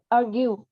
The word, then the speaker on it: argue: Nếu mà nó là argue, nếu mà nó là chỉ có chữ ue thôi thì mình sẽ đọc là trọng âm thứ hai, argue.